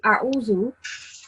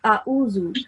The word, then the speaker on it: أعوذ: You made the same mistake when pronouncing A'uzu. You said A'uzu. It's supposed to be pronounced as A'uzu.